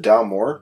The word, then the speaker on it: Dalmore: I don't remember ever having a, is it Dalmore? Is that how you say it? Yeah. Okay. That's how I say it.